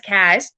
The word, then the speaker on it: Kaz: I want to keep saying Chase, but it's not. It's Kaz.